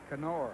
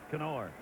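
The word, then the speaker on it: Knorr: for this 29 year old veteran catcher k-n-o-r-r kenor Steve Berger is that the pronunciation on his name now okay in I think that's correct that's correct yes kenor well like Ralph said yesterday is Bobby canop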